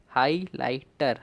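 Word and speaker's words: highlighter: फिर ये भी आपका साइलेंट है। और फिर टी ई आर, इसे हम टर पढ़ रहे हैं, टर, हाईलाइटर, हाईलाइटर।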